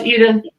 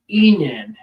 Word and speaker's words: Enid: I feel like I've been pronouncing it wrong all day. So Eden, that's what I thought. So what's Eden? Enid.